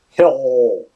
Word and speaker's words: he'll: So again, it's a typical dark L sound. He'll, it's almost like that. He'll.